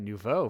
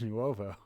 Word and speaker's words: Nuovo: That's it's I've always had the I mean and now I didn't realize I've been calling it Nouveau for so long. I didn't know it was Nuovo.